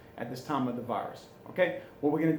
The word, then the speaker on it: virus: So virus is going to be pronounced that S. It's one of those exceptions. You know, sometimes we pronounce that S, even though most of the time we don't. But on virus, we're going to pronounce the S.